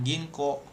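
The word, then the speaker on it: 銀行: Nah, nah itu dibacanya Tokyo gitu kan atau mungkin Bang misalkan ginko.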